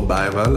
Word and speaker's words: Bergwall: My name is Bergwall, or Bergwall as it's pronounced in Sweden.